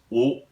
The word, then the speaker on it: を: It's o, which is a difficult word to actually pronounce in Japanese because the start of it is a very quiet W and then an O, and it sounds like o.